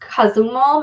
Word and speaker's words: Cozumel: So there is, I think it's pronounced Cozumel, Mexico is where we were looking at.